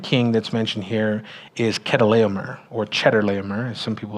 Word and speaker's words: Chedorlaomer: It's not actually pronounced Chedorlaomer. It's pronounced Chedorlaomer, and we know that because most other historical records of this type of name, it's with a K instead of a CH, right? So it's Chedorlaomer, and he, like I